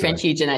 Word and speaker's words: Via Francigena: So this is you're going deep into history, and that's as if to say the road itself, the Via, however you pronounce it. Via Francigena.